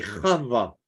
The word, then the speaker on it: Chava: Alors, ça s'écrit comme ça, c'est Chava en hébreu.